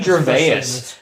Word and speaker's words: Gervais: pronounce that name what how do you say Ricky's your vase your face Gervais yeah okay Ricky Jarvis he knows